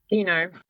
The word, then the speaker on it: Coutinho: Dino. Oh, okay. There you go. Football player. What was that? It's the same name as the football player.